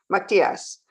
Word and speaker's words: Matiase: Matthias. Okay. Matthias, thank you. You can go. Yeah, that's how I prefer it to be pronounced.